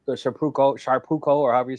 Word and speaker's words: Shapeoko: The Carbon 3, the Shapeoko, or however you say it. How do you say it? Shapeoko. Yeah, Shapeoko.